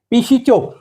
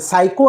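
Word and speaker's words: psycho: जात नाही okay एमपल पी एस वाय सी एच काय वाचणार तुम्ही गेस करा बर काय तुमही वाच त्याला पी चो प अस वाच तुमही नाही प नाही आहे सायको आहे तो सायको आता सायको या शब्दाला मी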